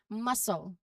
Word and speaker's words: muscle: So in these cases, the C is present in the spelling for historical reasons, but it's not pronounced. So this rule helps streamline your pronunciation for these common words. So let's practice saying these words aloud, making sure that C stays silent.